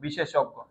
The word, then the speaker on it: বিশেষজ্ঞ: পরে জফলা আছে কিন্তু এখানে শেষে উচ্চারণে কি হয়ে যাবে বলতো এখানে শেষে আছে তাহলে কি হবে বিশেষজ্ঞ শেষে আছে এখানে ওকার উচ্চারণ হয়ে যাবে বিশেষজ্ঞ আর উপরে একটা হসন্ত হবে বিশেষজ্ঞ কারণ যুক্ত বর্ণের শেষে অ থাকলে উচ্চারণে ও হয়ে যায় এখানে জফলাটা স্কিপ হয়েছে